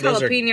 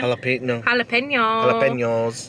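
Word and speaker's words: jalapeños: Those jalapeno are good. Did I say it wrong again? Jalapenos.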